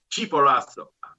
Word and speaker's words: Chimborazo: And that's pronounced, please. Chimborazo. Chimborazo.